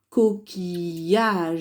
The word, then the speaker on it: coquillage: Ici, j'ai, eh bien, coquillage. J'entends bien le son Y. Donc, je colorie en bleu coquillage. Coquillage. Pareil ici, le I, il sert dans la syllabe qui, coquille, et dans la syllabe yage.